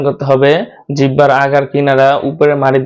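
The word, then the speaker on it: ح: তারপরের হরফ হলো হা। হাটা উচ্চারণ করতে হবে গলার শুরু জায়গা থেকে, আওয়াজটা ভিতর থেকে আসবে। হা হা হা হা হা হা হা।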